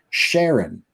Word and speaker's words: Karen: because she said that her name should be pronounced Sharon. And we're like, under no circumstances will I allow you to make a K make an SH sound.